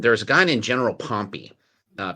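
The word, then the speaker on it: Pompey: Mas uh and there's a guy named General pompy uh p o m p y it's not pronounced pompe pronounced pompy and it incidentally has eventually has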